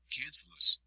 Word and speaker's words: cancellous: Cancellous, pronounced cancellous, bone, which looks like a sponge, is inside the compact bone.